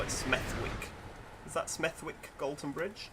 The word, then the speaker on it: Smethwick: Smethwick should be pronounced Smethwick, just because it upsets people when you call it Smethwick.